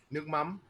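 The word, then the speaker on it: nước mắm: Nuc mam. Nuc mam. You know what? Let if you guys are watching, let's mouth it with me. Everyone on screen too, mouth it with me. Say nuc. Nuc. Mam.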